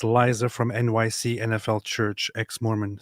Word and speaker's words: Liza: So, Lisa. Okay, wait. You just said Lisa like Lisa Minnelli. Do you mean Liza?